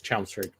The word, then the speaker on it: Chelmsford: Apparently, they do things differently up in Chelmsford. Is that how it's pronounced? It's Chelmsford.